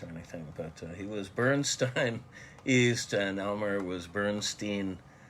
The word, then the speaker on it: Bernstein: Stein took the hard I pronunciation of EI in his last name, Elmer.